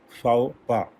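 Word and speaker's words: faux pas: next word is फाओपा, जैसे मैंने pronunciate किया था, स्पेलिंग आप देख रहे हैं FAUXPAS, इसमें X भी साइलेंट है और S भी साइलेंट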